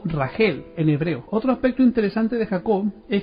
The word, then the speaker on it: Raquel: mujeres sino con Raquel que en hebreo se pronuncia ragel dice el libro de